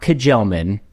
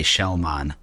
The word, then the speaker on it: Kjellman: and Chelman, not Kajelman, right? What's the proper pronunciation? You nailed it. Chelman. Yep. Although, when I ask real Swedes how to pronounce it, they say Shellman.